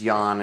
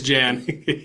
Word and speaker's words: Jan: I apologize Jan or if it's if it's Yan. I talked with somebody who had the name spelled that way. They pronounced it Yan. So either way um it's Jan.